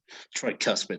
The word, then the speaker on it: tricuspid: vena cava yes however this uh you mostly sounds like between a u and an o tricus curse yes it's not an u tricuspid yes that is correct